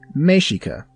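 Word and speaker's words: Mexica: use the more appropriate term mexic pronounced Mika the ancestral root language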